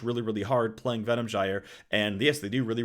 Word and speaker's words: Gyre: Yes, pronounced Gyre. That's how you say the word.